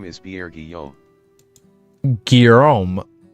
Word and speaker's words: Guillaume: Call out Guillaume, and another third will respond, I will learn these names, I promise.